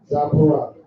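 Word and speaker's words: Tzipora: Zapora.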